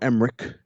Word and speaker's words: Emmerich: another form of these Ronald Emmerich or Emmerich, I think it is with the CH at the end. That sounds like a K.